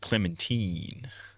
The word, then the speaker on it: Clementine: It's pronounced Clementine.